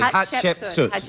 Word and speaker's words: Hatshepsut: Pronounce her name properly. Hatshepsut.